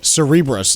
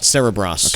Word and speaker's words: Cerebras: I found out it's actually pronounced uh Cerebras, not Cerebros. Okay, so Cerebras goes public and immediately fetches a valuation of 95 billion.